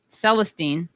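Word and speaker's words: Célestin: I mean, I didn't take that much French, but I gotta say, it's Celestin because it's spelled at Celestin. Celestine would have an E at the end.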